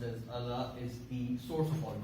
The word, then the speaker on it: Allah: And the God, which is in Arabic is pronounced as Allah, is the source of all creation.